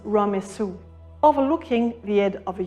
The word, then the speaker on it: Ramesses: In the ancient Egyptian language, “Ramesses” was pronounced “Ramessu”.